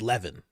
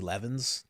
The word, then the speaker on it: Levin: It's Levan. His name's Levan. Um I don't care how he pronounces. His name is Levan. I've grown up with too many Levvens to now call it Levven.